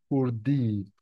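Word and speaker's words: hurdî: That's why we call it a one-way slab, hurdi in Turkish. Please pay attention to this hat. It's not I letter, it has this hat, and you need to pronounce it a little bit longer, hurdi.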